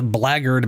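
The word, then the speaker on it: blackguard: And the fact that it's pronounced blard makes no goddamn sense. There's no world that makes any sense. It's just I it's it's like you just actively ignore all the middle letters and throw your own in there.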